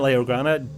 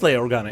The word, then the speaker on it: Leia Organa: relics seven requirement for Leia or Ghana not Leo Ghana Galactic Legend Leia it is Leia Organa isn't it this graphic comes to